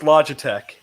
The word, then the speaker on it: Logitech: kind of whipped cream generally it's pronounced logitech i say log attack i've never i have